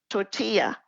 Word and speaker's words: tortilla: Tortilla, the double L is the Y sound.